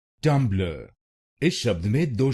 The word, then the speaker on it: Tumblr: Its correct pronunciation is tum blur. tum blur this word has two syllables. tum blur tum blur will become tum blur tummer. And in this you have to stress on the first syllable tumblr.